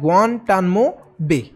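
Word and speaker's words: Guantanamo Bay: America के अंदर एक प्रिजन है, एक जेल है जिसका नाम है ग्वांटानामो बे। ये है इसका एग्जैक्ट प्रोनाउंसिएशन, ठीक है।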